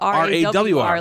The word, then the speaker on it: Rawr: Well, you say Rawr, like R-O-A-R, but it's spelled R-A-W-R.